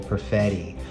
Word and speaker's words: Perfetti: Kalen Addison or the Cole Perfetti. Yeah, man, which rhymes with spaghetti.